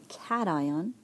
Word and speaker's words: cation: We can have a cation. Okay, that's how it's pronounced.